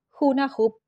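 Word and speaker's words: Hunahpú: jugar a la pelota para decir bien su nombre con repetirlo dos veces alcanza juna hup juna hup abuela sus nietos son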